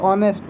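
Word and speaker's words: honest: एन लगेगा, अभी बताया था थोड़ी देर पहले, क्योंकि इसको एच को नहीं पढ़ेंगे, एच साइलेंट है तो ओ से चालू हो रहा है, ऑनेस्ट, तो क्या लगेगा यहाँ पे, एन।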